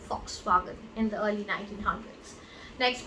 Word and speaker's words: Volkswagen: It's Volkswagen. So basically, when this company created the car, it was for the people. So Fox and wagon, that means a car. So that's how the name Volkswagen in the early 1900s.